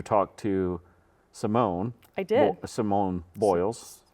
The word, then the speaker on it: Simone Biles: Simone Biles. How do you say it? Simone Biles? Yes, Simone Biles.